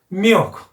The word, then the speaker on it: milk: 밀크가 milk. 이렇게 에어 발음이 약간 코맹맹이 소리가 나야 된다.